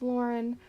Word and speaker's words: Lauren: We have Lauren, and then I tell you how to pronounce it, it's just Lauren.